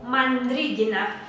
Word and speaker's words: Mandrigina: Mi apellido se pronuncia como Mandrigina, ¿sí?